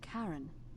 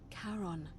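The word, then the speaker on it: Charon: It's just as you described it, only your pronunciation is a little off. The name you heard wasn't Karen. It was C H A R O N. As in Karon, the fairyman of the dead.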